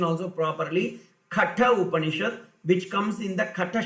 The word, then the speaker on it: Katha Upanishad: Many people, they pronounce it not correctly, so I am giving the pronunciation also properly. Katha Upanishad, which comes in the Katha Shaka, Taitriya Upanishad, which is the you know the story.